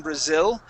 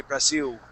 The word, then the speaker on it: Brasil: Listen to how people from Brazil, how they pronounce the name of their country. They don't say Brazil and pronounce that L. They say Brasil. And they pronounce it more like a U.